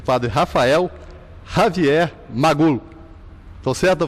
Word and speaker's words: Rafael Javier Magul: O padre Rafael Javier Magul. Estou certo a pronúncia, padre?